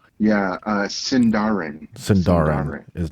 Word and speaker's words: Sindarin: A, Taliska, B, Terraline, C, Sindarian. Sindarian. B. And let me amend. B is pronounced Tellerin. Tellerin. Oh, okay. Well, now that changes my thought. I'm sorry, what was C? Yeah, Sindarin.